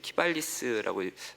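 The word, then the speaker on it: Qivalis: 그래서 저는 이제 사실 법보다는 이제 시장을 보는 입장이다 보니까 제가 주목하는 건 최근에 이제 키발리스라고 발음을 좀 잘해야 됩니다.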